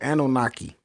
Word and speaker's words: Anunnaki: So they pronounced it Anunnaki, right?